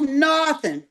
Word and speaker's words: Northam: Understand this here under Ralph Northam, did I say it right?